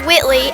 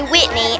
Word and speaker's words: Whitley: it's so stupid when people say my name wrong my name is Whitley and they say Whitney every time and it gets on